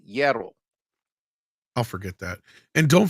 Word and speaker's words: hierro: Like the H is the HIE is like a Y. Hierro.